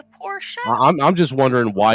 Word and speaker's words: Porsche: how you say it it's not a Porsche it's a Porsche show I'm I'm just wondering